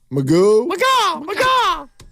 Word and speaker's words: McGaw: And then is this pronounced Alex McGaw? McGaw. Yeah. Let's get him in the game.